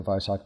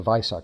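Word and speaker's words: Weissach: Uh, and so there are certain things like the Viso pack. And by the way, everyone, please pronounce it a vis. That's the German pronunciation of the W. Um, the Viso pack.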